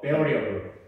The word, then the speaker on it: variable: 자, 여기서 진짜 중요한 건데 선생님이 저번에 두 개 발음가에서 잘못 가르친 것 같아요. 여기서 다시 바로 잡을게요. 자, 때려 보세요. variable. 잘 들어? variable.